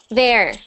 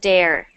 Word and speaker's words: there: There. Yep, so I'm hearing more of that there instead of dare, which is really good.